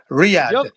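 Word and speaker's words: Riyadh: You have to pronounce it properly. Yeah. Riyad. Riyad.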